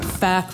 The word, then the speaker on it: PHAC: Health Agency of Canada, we call ourselves PHAC or FAC, we pronounce the PH as an F, bunch of FACers.